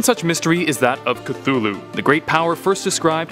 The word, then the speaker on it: Cthulhu: It should be noted that Lovecraft originally intended the name to be pronounced closer to Cthulhu, because it originates in an alien language that can't be properly spoken by humans. However, the easier form, Cthulhu, is more prevalent, so